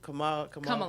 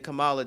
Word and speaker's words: Kamala: How we pronounce her name? Kamala. Kamala.